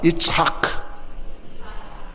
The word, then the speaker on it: 이삭: 이착. 할 때에 가래가 나올 것 같이 하는 거예요. 그래야 정확한 발음이에요.